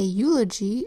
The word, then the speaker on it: eulogy: Eulogy is spelled with our EU phonogram that says U, an L that says ol, an O that says O, a G that says J, and a Y that says E.